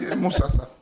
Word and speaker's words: Musasa: J'ai bien prononcé, hein? Moussassa. Ou c'est pas Moussassa? Non, Moussassa.